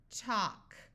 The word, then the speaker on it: talk: smaller call collar now if we have a and L before a k or an m at the end of a root word the a will also have the broad a sound also the L will be silent so here we have a l and then a k so this a will have the broad sound of a but the L will be silent talk walk stock here we have a